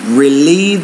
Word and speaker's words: relieve: I want to say to relieve my stress. So put stress on the second syllable, and because it is the E vowel, you have to make that longer.